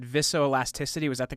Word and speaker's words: viscoelasticity: And I guess one of the you said, and you can correct me if I have the pronunciation of this wrong. You said viscoelasticity.